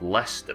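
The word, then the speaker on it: Leicester: in their speech and as a result now it's called leester but we just got the old spelling I had to deal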